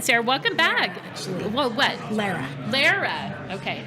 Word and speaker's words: Lara: Lara. Okay, it's Lara. It does rhyme with Sarah.